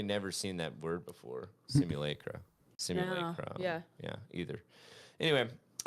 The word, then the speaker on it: simulacra: Simulacra, thank Is you.